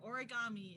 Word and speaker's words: origami: see it alright so origami or origami if you want to pronounce it like an american like i grew up